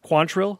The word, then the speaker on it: Quantrill: William Quantrill, is that the right pronunciation? Yeah. Okay.